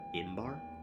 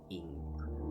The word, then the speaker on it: Ingvar: What, Imbar? Ingvar? I will spell that. Ingbar. Oh, alright. There you Oh. Bar, yes, of course. not bar. Ingvar. Yes. Ingvar.